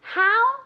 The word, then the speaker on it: how: How many bottles of water do you have? Cuidado con how, ¿vale? Se escribe con una O, pero se pronuncia como si fuera una A y después una U.